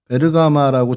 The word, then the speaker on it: 베르가마: 안델리의 지방이 여기 버가가 요쪽이고 오늘 살펴보는 버가는 베르가마라고 지금은 발음하고 있는 도시입니다.